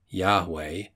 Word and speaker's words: Yahweh: instead of an a modern scholarship gives Yahweh variously spelled j-a-h-v-e j-a-h-v-e-h-y-a-h-w-e-h Etc as the correct pronunciation its meaning the true